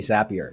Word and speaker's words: Zapier: do you pronounce it it's actually zappier because it's supposed to rhyme with happier at least that's not